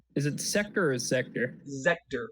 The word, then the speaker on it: Zector: Zector with a Z. Like Sector, okay.